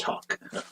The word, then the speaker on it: Houck: And not Hawk like the bird, like Houck. Yeah, it is. Houck. But it's pronounced Hawk.